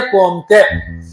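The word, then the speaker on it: Comte: दोनों ज खासियत अगस्त कोमते एंड इमली डरकिम इनके वर्ड्स के ऊपर देखने का किस तरह से वर्ड प्रोनाउंस होता है तो समझ लेने का ये फ्रेंच वर्ड्स है क्या कौन सा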